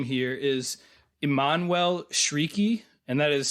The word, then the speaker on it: Chriqui: Probably the biggest other name here is Emmanuel Shrieky, and that is spelled Emmanuel is the first name, and Chiriqui, Chriqui. But I looked it up, and it's pronounced Emmanuel Shrieky, so I'm going to go with that.